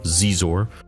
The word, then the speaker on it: Xizor: One of the standout characters in this story is definitely Prince Shizor. Prince Xizor or pronounced Zizor who is the prince the underlord of black sun the crime syndicate.